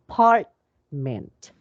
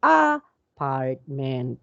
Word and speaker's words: apartment: have three syllables and where is the stress so that would be in the part so uh apartment so we do not say ah apartment okay so that would be wrong we will not going